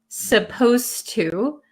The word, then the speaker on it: supposed to: pronounce supposed to um the D sound and the T sound become kind of like one sound so when I speak supposed to supposed to it doesn't sound like there's a d that is why many